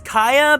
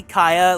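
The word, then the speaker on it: Khia: The joke about that is that, yeah, it's Kaya because it's supposed to be Kaya, like the rapper that did My Neck, My Back. But, like, she's so irrelevant that no one remembers how to say her name right or, like, spell her name in this case. The Kaya, don't you try to Sharpay her. Yeah, everyone says Kia Asylum, which is wrong, but I think incredibly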